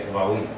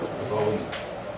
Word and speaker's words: Devarim: the book of Deuteronomy, Devarim. Devarim. Devarim. That's how the Israelis say Devarim. Their R is going to sound like a soft and like almost like a W sound. Devarim.